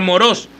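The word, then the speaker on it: μωρός: El hombre insensato, aquí Jesús usó esa palabra griega que se pronuncia moros, que significa aburrido.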